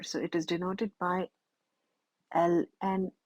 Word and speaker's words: ln: it is denoted by Ln X it is read as Ln X it is not i n it is read as l n e l is pronounced